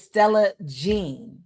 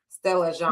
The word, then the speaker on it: Stella Jean: I think it's Jean, the way that it's French. So I think it's pronounced Jean. Stella Jean.